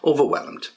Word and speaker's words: overwhelmed: Okay, so remember the pronunciation. Over, that's one pod. Whelmed, yeah, and get d, whelmed, get the d at the end. Overwhelmed.